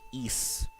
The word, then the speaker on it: Ys: I think Ys, that's how you're supposed to pronounce it, came out, the letter Y and the letter S.